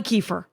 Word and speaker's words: Kiefer: So just so everyone knows, Halle Kiefer, it's Halle like Halle Berry, Kiefer like Kiefer Sutherland, and all of my fan base, Rangers know those two people.